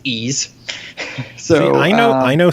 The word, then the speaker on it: Ys: ease games and yes the pronunciation you had last week was correct it is ease so I know I